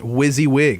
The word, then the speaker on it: WYSIWYG: got WYSIWYG and we found out it is pronounced WYSIWYG it stands for what you see is what